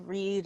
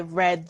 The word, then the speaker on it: read: Alex Angela read a read a changes depending on which tenth so it's read for the for the present tense and read for the past tense so that's a little